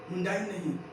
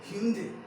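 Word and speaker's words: Hyundai: हाँ, हुंडई, क्या means हुंडे, हुंडई नहीं ह्यूंडे, क्या हुंडई नहीं ह्यूंडे,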